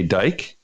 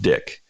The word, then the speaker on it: Dyck: eyeball and they say dike and I roll with it I'm cool with it okay but it's actually pronounced dick okay and either way